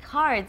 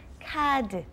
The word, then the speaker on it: 카드: Do you accept cards is actually what we're saying, but everyone understands that is credit cards. And of course, we don't pronounce it like card, we say 카드.